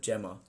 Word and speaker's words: Gemma: Oh, it's Gemma, not Jenna _ Cox. Okay, Gemma. So you're not diabetic. She's not diabetic. But apparently it's spelt with a J. So it's still like Jenna, spelt but with two M's rather than two N's. I'll just tell my mum to leave me alone.